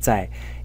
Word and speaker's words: 在: 才, where the character as a whole is pronounced 在.